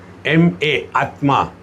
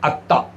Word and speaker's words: Atma: For example, Bengalis cannot pronounce the conjunct consonants. So, Atma, A-A-T-M-A, Atma. They cannot make Tma. So, they say Atta.